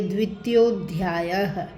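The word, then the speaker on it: द्वितीयोऽध्यायः: यह अ होता है, लेकिन जब हम पूरे शब्द का उच्चारण करते हैं तो वहाँ हम इस ए का उच्चारण नहीं करेंगे। हम पढ़ेंगे द्वितीयोध्यायः, द्वितीयोध्यायः, अथ द्वितीयोध्यायः। संजय उवाच।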